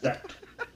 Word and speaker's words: Zat: Zat.